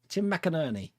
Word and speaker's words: McInerney: Tim McInerney. I thought it was McInerney. Tim McInerney. I'm so hopeless when it comes to pronunciations.